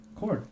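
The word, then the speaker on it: chord: a 250 mm cord cord spelled like choir with a CH because that makes total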